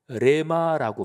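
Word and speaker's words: ῥῆμα: 내 말씀 이거는 헬라어로 레마라고 발음합니다 레마 근데 로고스나 레마나 하나님의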